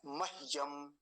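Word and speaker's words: मह्यम्: फिर से ध्यान से मयम और अगर पूरा होता तो कैसे बोलते मयम ऐसा बोलते अभी ह का आधा है तो कैसे बोलेंगे मयम म यम ठीक है आप पकड़ गए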